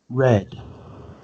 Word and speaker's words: read: The same. But the pronunciation is different. Read. Red.